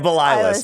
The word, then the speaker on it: Belalis: Belalis, dude. Okay. Yeah, no, it's basically an extra syllable every part of the fucking word.